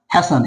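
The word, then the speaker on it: hasten: होंगे हैन लेकिन आज इसे आप क्या पढ़िए हैसन हैसन क्या है जल्दी करना ठीक है क्विक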